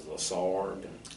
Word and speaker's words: Lessard: case comes out, and I think the proper way to pronounce it is Lessard.